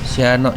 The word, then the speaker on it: Sianok: we will turn left this Sianok in Minang language It consists of two syllables namely si and anok Si means the Anok